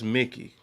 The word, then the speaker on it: Mickey: Is it Mikey or is it Mickey? that's Mickey.